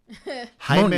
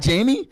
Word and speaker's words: Jaime: Jaime Munguia. It's not Jamie? Because that's spelled Jamie.